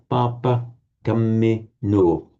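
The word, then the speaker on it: pāpakammino: Actually, it's yeah, Papa Camino. It's heavy, light, heavy, light, heavy. Papa Camino.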